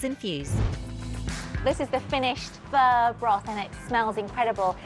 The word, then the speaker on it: pho: fur classic Vietnamese dish Super Famous it's not pronounced bow as it's spelled p-h-o but fur named after the French hot alpha so first